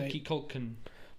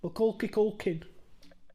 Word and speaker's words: Macaulay Culkin: I pronounce his name different every time I say it. Milky Culkin. Macaulay Culkin.